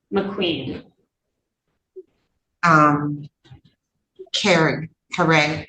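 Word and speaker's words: Caree: Um Karen. Karee. It's pronounced kare, but it's c a r e.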